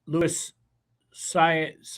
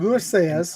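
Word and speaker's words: Luis Saez: So Brad Cox I know Lewis Saiz I believe is how you pronounce it. Louis Sez I'm familiar with him.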